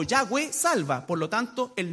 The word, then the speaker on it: Yahweh: Pero el nombre de Jehová es Yahweh, pronunciado más o menos así en el hebreo, que fue el tetragramatón que le entregó, ¿no es cierto?, Dios a Moisés.